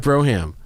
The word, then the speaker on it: Brougham: not a rear drive Brougham actually pronounced broom but it's Brougham oh it's the oh